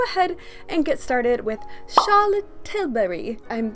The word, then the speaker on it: Charlotte Tilbury: but I feel like when you say Charlotte tilbury's name you can never just say it like in an American accent if you're from the US you have to say it with a British accent that is the most